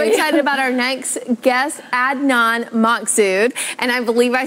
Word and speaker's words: Adnan Massoud: I appreciate it today so my name is Adnan Massoud and I'm the founder of vision ministries and